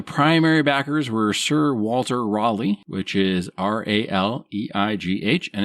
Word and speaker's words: Raleigh: They just allowed it to happen, So for Roanoke, the primary backers were Sir Walter Raleigh, which is Raleigh, and it's pronounced Raleigh, not Raleigh.